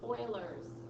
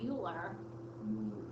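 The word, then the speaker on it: Euler: and E stands for Oilers number okay it's actually pretty cool because um it's pronounced Oiler but it's spelled that way it looks like uler I know but it's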